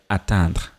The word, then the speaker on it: atteindre: As I've mentioned, attendre is to wait, attendre is to attain. I don't know if you can hear clearly the difference in the pronunciation. Attendre and then atteindre. Attendre, atteindre. So, j'attends.